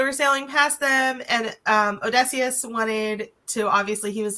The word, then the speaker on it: Odysseus: And basically Odysseus, is that how you say his name? Odysseus.